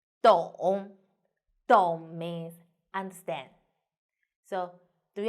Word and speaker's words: 懂: In this video, I will teach you how to pronounce it, how to write it, and how to use it. First, let's read together. 懂的 on together 的 on 咚 and third tone 懂 very good.